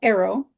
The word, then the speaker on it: Aero: Typically, I channel Arrow, and their name is spelled Aero.